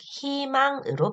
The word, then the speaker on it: 희망: 음절의 의는 이로 발음합니다 예를 들면 희망 같은 단어를 생각해 보면 히로 시작을 하죠 자음을 첫 소리로 가지고 있는 히로 시작하는 희망의 히 같은 경우에는라고 발음하면 너무 불편하겠죠네 그래서 이로 발음 즉 희망으로 발음을 하는 겁니다네 두 번째 규칙으로 내려갑니다